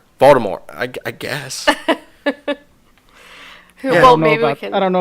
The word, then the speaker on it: Voldemort: You're not supposed to pronounce it with a T, according to. What? Yeah, according to Rowling. Yeah, there's a. I have it in my notes that there's a tweet that she put out to where it's not supposed. The T is silent.